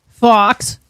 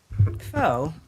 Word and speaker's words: faux: do you spell what how do you pronounce faux Fox foe foe I know so my husband was